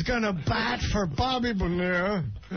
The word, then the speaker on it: Bonilla: Rico Brogna is going to bat for Bobby Bonilla. Vanilla, it's spelled, but it's Bonilla nonetheless. Holy Jesus.